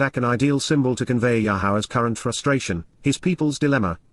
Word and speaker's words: Yahowah: And, Yahowah, the proper pronunciation of Yahowah, our ElYah, God as directed in his Torah,